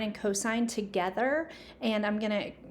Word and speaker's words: cosine: So it looks like sin and tan and cos, but this is actually pronounced sine, cosine, and tangent.